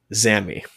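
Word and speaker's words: Xami: Um, that is Zami. How's it spelled? X A M I Okay.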